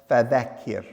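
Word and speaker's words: فَذَكِّرْ: So remind the people listen carefully to the pronunciation of the letter raw in fedakir. Here the raw is pronounced with tarik a light delicate quality rather than teim heaviness.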